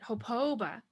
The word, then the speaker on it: hopa: So this word hopa, you're pronouncing it as if there's an extra O. Hopa.